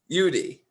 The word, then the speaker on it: Udy: zoom right now with me helene is it pronounced judy judy yeah okay got it yeah awesome and she